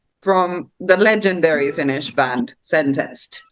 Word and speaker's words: Sentenced: But Taneli is probably like most well known from the legendary Finnish band Sentenced, or Sentenced, as we Finnish people would pronounce it.